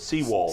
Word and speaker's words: Sewald: How do you pronounce it? Seawald. Seawald.